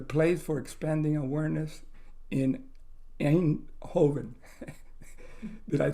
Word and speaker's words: Eindhoven: of Yogatrainer, the place for expanding awareness in Eindhoven.